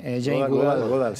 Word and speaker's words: Jane Goodall: otra parte, experta en chimpancés, Jane Goodall, ¿se pronuncia? Sí, Jane Goodall.